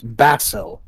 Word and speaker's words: Basil: that's quite no no he said it's pronounced like basilis so it's bassil yes right right right